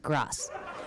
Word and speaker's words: GRAS: is hemp food is grass I think it's pronounced grass generally recognized as safe and in 2018 you